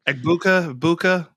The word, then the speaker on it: Egbuka: Egbuka. I don't pronounce the G.